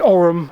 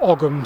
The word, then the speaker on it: Ogham: well 8 feet deep, and it holds the Ogham or Ogham Stone.